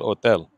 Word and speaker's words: hotel: ¿Cuál es la dirección del hotel? Remember, don't pronounce the H.